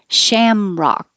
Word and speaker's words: Shamrock: that's kind of cool Shamrock sham you have to open and keep your lips back sham and rock you have to open and keep your lips straight so it's a lot of movement Shamrock jealous another good